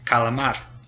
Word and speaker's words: calamar: So if C comes before an A, an O, or a U, or a consonant, then it makes a K sound, like calamar.